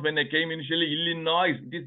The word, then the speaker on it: Illinois: when I came initially illino is not illino it is Illinois s is silent we India newspapers bomb